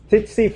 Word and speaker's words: tsetse: You guys know the sleeping disease is transferred by tsetse flies.